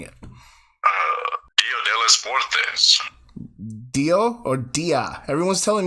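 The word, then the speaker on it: Día de los Muertos: It's Dia de los Muertos. Dias de los Muertos. No, you added a bunch of S's.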